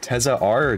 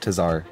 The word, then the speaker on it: TezaR: it so uh how do i pronounce your name is it tessa r tez tazar as a teza okay cool yeah it doesn't